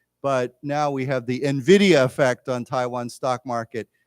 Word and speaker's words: NVIDIA: It says NVIDIA, and of course when we say their name, people pronounce it N and then Vidya.